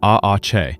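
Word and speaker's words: Aatxe: The Ache, pronounced Aache, is a spirit from Basque mythology whose name literally means young bull.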